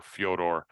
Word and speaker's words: Fedor: be up there uh Fedor I I even throw Fedor and melano in there or Fodor as they pronounce it he never fought in